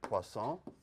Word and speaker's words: Poisson: So let me, underneath Laplace, let me write Poisson. You got the pronunciation, the brilliant French pronunciation there of Poisson.